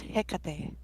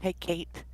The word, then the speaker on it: Hecate: And it's pronounced Hecate, not Hecate.